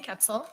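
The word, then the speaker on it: Koepsell: for the record I'm sorry full name and spell it for us it's capsil last name is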